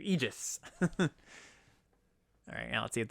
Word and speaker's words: Aegis: then Abrupt Decay the Aegis. Or Aegis. Sorry, I think I've been pronouncing it wrong. Got corrected on that on the set review. Aegis.